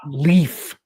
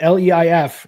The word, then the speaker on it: Leif: It's not leaf. When it's leif. It's Leif. Leif. Okay. Leif Cassidy. So if they were saying Leaf on TV, then it was typical Americans not pronouncing things right.